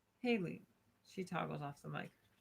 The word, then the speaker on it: Hale: Hale, for the last time, is pronounced Haley.